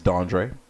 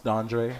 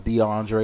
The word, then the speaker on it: DanDré: But I always grew up with people not being able to pronounce DanDré. They thought I was DeAndre or DanDré.